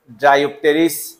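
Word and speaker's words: Dryopteris: এর উচ্চারণ নাই কিন্তু এখানে পি এর উচ্চারণ আছে ড্রাইপ টেরিস তাহলে ড্রাইপ টেরিস কার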